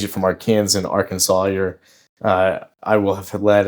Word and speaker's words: Arkansas: Because we were a state before Kansas and we're Arkansas, not Aran.